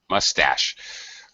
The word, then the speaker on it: mustache: mustache mustache that's it mustache weird word in english most two-syllable nouns in english have first syllable stress but mustache has second syllable stress i suspected of being french in origin that's my suspicion french